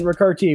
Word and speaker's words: Ricarte: joined by Brett Davis Spencer Paulie and ricarti which rhymes with vivarti and we're going to start with